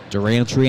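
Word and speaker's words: Dwirantwi: Durantry. It's not as hard as it's spelled, but she is going to be a name that you're going to have to know how to spell.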